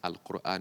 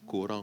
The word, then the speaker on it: Al-Qur'an: Donc, on prononce Al-Qur'an. Mais en français, on dit Coran. Oui, on dit le Coran. Non, c'est Al-Qur'an.